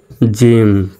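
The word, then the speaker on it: gym: ওয়াই থাকলে কি হবে জির পরে ওয়াই থাকলে জির উচ্চারণ জর মত হবে তাহলে জি ওয়াই এম উচ্চারণ হবে জিম ওর উচ্চারণ রসকারের মত জিম জির পরে আই আছে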